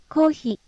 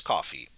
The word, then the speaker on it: コーヒー: Because we've already learned this one, so I won't go too great into details, but rather than pronouncing it coffee, it's kohi. So, yeah, kohi. コーヒ Kohi is coffee.